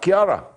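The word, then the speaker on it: Ciara: the latest on storm kiara it's how you pronounce that kiara a deep atlantic low pressure system which is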